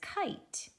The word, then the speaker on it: kite: Now in this next block, it says kite. That K isn't silent because it says k-k-k-k-kite, right?